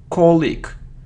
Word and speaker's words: colleague: it isn't colleague or it isn't colleague it's colleag colag so the stress is on the first syllable and we have the